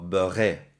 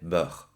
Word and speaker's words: beurre: Le mot beurre no se oye la E final, no digo beurré, o beurré, o beurre, se dice beurre.